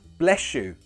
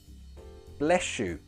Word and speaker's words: bless you: not bless you need you connect the words with a sound bless you bless you say it with me bless you or god bless you